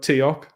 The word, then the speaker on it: Teok: We got Teok of SPQ. Am I saying that right? Teok? Yeah, that's it.